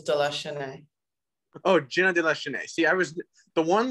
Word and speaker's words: de la Chesnaye: supposed to pronounce it it's jenna um and then my last name is delusionaire see i was the